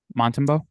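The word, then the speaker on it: Montembeault: Yeah, Montembeau.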